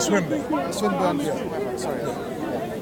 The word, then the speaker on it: Swinburne: It's called Swinburne. Swinburne. It's not what it's called, it's just a pronunciation different. I got the pronunciation. No, when you say swine, it sounds a little weird.